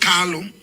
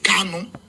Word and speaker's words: Kanu: Our leader is not Carlo. Our leader is Kano. It's not Carlo, it's Kano. For some of you that always make this pronunciation, it's Kano, not Carlo.